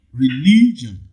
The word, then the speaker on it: religion: stress sinister okay b religion religion in religion the second syllable the second syllable receives the primary stress okay efficient efficient inefficient